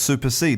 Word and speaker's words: supersede: So super, like Superman, and seed is spelt S-E-D-E. Seed, which is different from seed, S-E-E-D, like, for a seed from a plant or a fruit. So it's supersede.